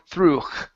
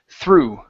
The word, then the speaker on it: through: more time no no sound we don't want through no h or anything it's only ooh through through there you go that's it okay only